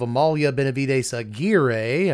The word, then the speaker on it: Amalia Benavides Aguirre: And again, there are other builds of Amalia Benavides Aguirre, I was told to pronounce it that way.